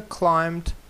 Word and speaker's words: climbed: речення Have you ever climbed climbed climbed climbed climed да B не читається Have you ever climbed